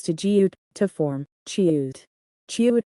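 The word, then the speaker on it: 치읓: Chiut is pronounced by lightly touching the tip of the tongue to the hard palate when saying jiut, then quickly releasing it to force a large amount of air out. The letter name is chiut. It is a strong sound pronounced loudly and forcefully by pressing the tongue against the hard palate. It is the same initial sound produced when pronouncing cha.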